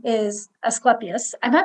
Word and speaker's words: Asclepius: So anyways, Ophiuchus, his Greek name is Asclepius. Am I pronouncing it correctly? Asclepius.